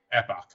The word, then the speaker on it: epoch: Epoch, okay. You said epic, like the Epic of Gilgamesh.